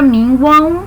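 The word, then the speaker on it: mínguam: É como se essa palavra minguam terminasse com um U, apesar de não estar escrito.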